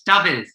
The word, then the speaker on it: Daffydd: It's Daffydd. Like David. TH on the end.